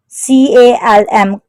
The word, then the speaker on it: calm: CALM, calm, L is silent word.